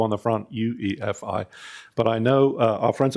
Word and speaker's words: UEFI: Well, so for those of us that started this whole thing, since it came from EFI as a three-letter acronym, you wouldn't really say FE.